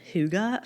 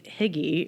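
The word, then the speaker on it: hygge: I'm like, um, it's a Scandinavian or more um, it's a it's a Danish way of life. So, it was it's a Danish word and it's pronounced huga.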